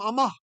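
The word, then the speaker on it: אַמָּה: The whole reason amath, A-M-A-T-H, became amah is it's kind of hard to say words with a th at the end that's not vocalized. You're not using your voice box. Amath. And so people got lazy. Amath became amah.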